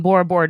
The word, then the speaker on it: Bora Bora: And Bora Bora does rhyme with Laura.